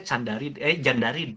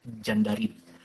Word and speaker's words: Candarid: Sebenarnya dibacanya Jandarid ya, ditulisnya Candarid kalau di Turki itu, tapi bacanya J gitu, Jandarid.